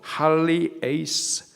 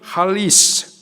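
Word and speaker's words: ἁλιεῖς: 어부가 되게 하리라서 어부 헬라식 발음으로 할리 에이스 빠르게 발음 하면은 할리스 같이 한번 발음해 보도록 할게요 할리스 예 뜻은 어부입니다 제가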